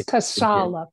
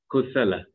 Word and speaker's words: Kusala: Oh, the funny part is that USA and LA is part of my name, and I just need to add K in front.